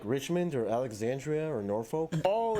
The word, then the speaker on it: Norfolk: I find it so funny how he says Norfolk, because obviously I'm from I forgot what it's called, the county in England called Norfolk, but he's like Norfolk. It's just so funny how the difference in pronunciation, etc.